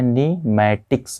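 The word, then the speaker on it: pneumatic: इनको कहा जाता है यहाँ पर पी साइलेंट में है, क्या है, पी साइलेंट में निमैटिक्स बोन्स, क्या बोलते हैं, निमैटिक्स बोन्स कहते हैं।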